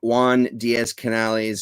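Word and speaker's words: Juan Díaz Canales: So written by Juan Diaz Canales and illustrated by Juanjo Guarnido. Don't even question it. That's exactly how you pronounce them.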